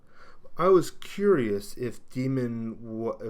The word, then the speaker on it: daemon: in other words that the a should not be pronounced now this is confusing